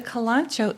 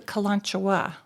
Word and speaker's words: Kalanchoe: How would you pronounce that word? The Kalanchoe? Kalanchoe. Yes. Mother of thousands. Mother of thousands. Okay. The Kalanchoe is one way that people say this.